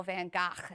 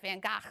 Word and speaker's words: Van Gogh: in the beginning and she pronounces van gogh van gaach and he's like van gaach like an arab she's right right so